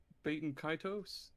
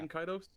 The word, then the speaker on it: Baten Kaitos: to pronounce it right or not, but I pronounce it Baten Kaitos. Oh yeah. Baten Kaitos.